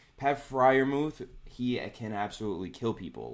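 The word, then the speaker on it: Freiermuth: This guy, Pat Friarmuth, I mispronounce his name every single time. You got it. According to Alex, yes, I got it.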